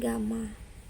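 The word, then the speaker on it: γ: Ini bacanya alfa ya, ini bacanya beta, ini bacanya gamma.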